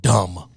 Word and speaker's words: dumb: It is dumb to have a B at the end of the word dumb. I would agree. D-U-M. D-U-M. No one says dumb. We say dumb. Right. D-U-M. So it should be spelled D-U-N, not D-U-M-B.